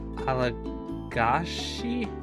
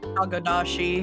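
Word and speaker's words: agodashi: Come to think of it, I had an amazing bowl of miso soup this morning made from alagashi? Is that how you say it? Agadashi.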